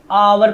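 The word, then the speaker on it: hour: इसको हावर नहीं आवर पढ़ते हैं। एच is silent in this word.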